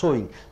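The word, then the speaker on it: sewing: அது சோன்னு சொல்லணும். சோயிங்.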